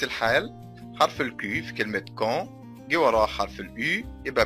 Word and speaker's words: quand: arrive quand نفس الحال، حرف الكي في كلمة quand جه وراه حرف اليو، يبقى بكده حرف اليو لا ينطق، ما ينفعش نقول كون، نقول quand.